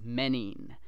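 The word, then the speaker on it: μῆνιν: And in Greek, I do know this, that's menin, all right, which is like menace.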